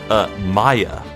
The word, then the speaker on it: Maya: she's 17 and secondly Maia's name is actually closer pronounced to papaya so not maiya but more like maiya nope nope the force of habit Maya yeah let's go with